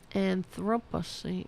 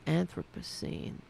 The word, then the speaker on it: Anthropocene: Is that how you pronounce that? Anthropocene. Let me pronounce it. That's it. Thank you. Let's play that again. An Anthropocene.